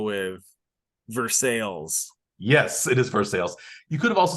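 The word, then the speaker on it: Versailles: Missouri in a city named after a European city but pronounced much differently do you have a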